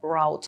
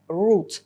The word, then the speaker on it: route: Зверніть увагу на слово route. Воно перекладається як шлях, маршрут, курс та має два варіанти вимови. В британському варіанті це route, а в американському частіше вимовляють route.